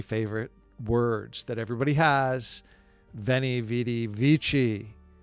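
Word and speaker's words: veni, vidi, vici: Veni vidi vichi or wayeni wedi wichi or sorry wayi wedi wiki is the real Latin way to pronounce it I came I saw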